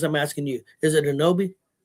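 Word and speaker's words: Anunoby: Is it I'm not saying I'm pronouncing right because I'm asking you. Is it Anobi? Yeah. OG and Anobi. Anobi.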